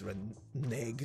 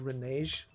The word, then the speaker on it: renege: Also, just a side note, I had to look up what the hell, also, I think it's renege, not renege, just how I pronounce it right now.